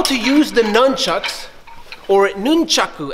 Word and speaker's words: nunchaku: So in today's video, I'm gonna show you how to use the nunchucks, or nunchaku as it's actually pronounced in Japanese.